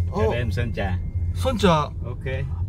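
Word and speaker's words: Sơn Trà: 대뱀 선자. 선자. 오케이. 아, 그럼 이게 저까지 되구나. 자, 여기가 선자 야시장이거든요. 영어로는 솜트라라고 되어 있는데, 아, 저걸 선자라고 발음하구나.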